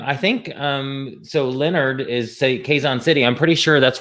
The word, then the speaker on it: Quezon: Quezon City, but we pronounce it Quezon.